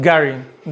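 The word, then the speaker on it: getting: English लोग ये जो गेटिंग की जगह वो इधर और प्रोनाउंस करते हैं, वो गेटिंग की जगह कहते हैं गैरिंग।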